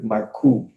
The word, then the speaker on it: Marcoux: I had a discussion with Roger Marcoux. That's how you say his name. This is French Canadian.